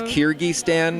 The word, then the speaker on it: Kyrgyzstan: Kyrgyzstan. Am I saying it right? Because I was a geography teacher, and I think I'm saying it wrong. So all those kids out there, sorry. It's okay. So it's Kyrgyzstan then?